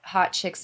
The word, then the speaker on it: HauteChix: our instagram handle is at hot chicks vegas but it's it's spelt like haute h-a-u-t-e and then c-h-i-x vegas anything else that you